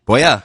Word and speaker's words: Buea: I believe I'm pronouncing that right. Buea? Buea, there we go.